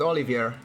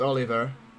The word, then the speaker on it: Olivier: And I said Olivier, not Oliver.